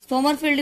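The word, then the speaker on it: Sommerfeld: इसे दिया था सोमरफील्ड भी है, समरफील्ड भी है, जो भी आपको करना हो, दोनों भी ठीक है, बस प्रोनाउंसिएशन का अंतर है।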